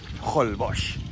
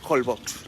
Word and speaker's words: Holbox: Ah, no es diu Holbox, no, Holbox. No, es diu Holbox. O sigui, els autòctons li diuen Holbox. I si vostè busca a la Wikipedia la fonètica de la paraula, també es pronuncia Holbox.